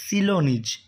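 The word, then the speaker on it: Ceylonese: according two according two উচ্চারণটা হচ্ছে এখানে ভালো করে বুঝতে হবে সিলোনিজ একর্ডিং টু সিলোনিজ চলো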